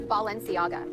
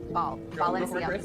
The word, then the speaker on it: Balenciaga: Stranger to the word ball. She goes Balenciaga. Balenciaga. I'm a baller. This is Lada. आपने note किया कि किम Cartesian ने बताया है कि इसको प्रोनाउंस कैसे करना है, वो बाल करके बोली।